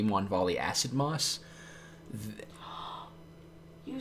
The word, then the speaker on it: Acid Moss: We're going to turn 2 Stone Rain, turn 3 Mon Volley Acid Moss. You said it right. Yes. What did you used to say? Asmosid.